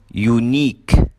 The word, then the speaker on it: unique: Number 7 endings with IQUE. الكلمات اللي بتنتهي ب IQUE بننطقها كمان long E. فبنقول unique, boutique, critique.